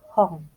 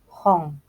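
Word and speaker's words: 本: Buku dalam bahasa Jepang itu hong. Tulisannya H-O-N, akan tetapi N yang ada di belakang itu dibacanya eng, jadi hong.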